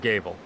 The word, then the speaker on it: Gable: Well, a judge would It's say 100% Gable. It's 100% It's Gable. Gable. Okay. Yeah. So I'm But he- 100% wrong. So, but he doesn't mind Gavel because that's how I think 99% of people pronounce his name.